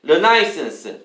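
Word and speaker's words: Renaissance: 5번에 르나이센스, 르네상스인데요. 발음이 르나이센스입니다. 르네상스는 produces, 만듭니다.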